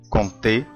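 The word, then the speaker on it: compter: كونتي كون تي كونتي. هنا طبعا ما نطقتش حرف الام ولا حرف البي، لان حرف البي لو جه وراه حرف التي حرف البي لا ينطق.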